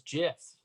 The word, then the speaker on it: GIF: that one's played out for the longest time i thought it was jiff but it is it is gif right you got is it